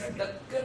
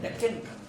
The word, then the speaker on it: Deccan: This word Dakkan was a mispronounced word of Sanskrit word Dakshin, and the British pronounced this Dakkan as Deccan.